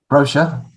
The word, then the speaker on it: brochure: say salon salon next brochure repeat it one more time brochure so the stress is on the first syllable whereas in the states we would say brochure brochure express yeah so you